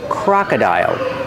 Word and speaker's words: crocodile: pronunciation crocodile crocodile pronunciation C cro CR use the open Sound a like hot and stop Croc the second vowel is uh like cup and up Croc Croc and the third vow is I like hi high and like dial this is a crocodile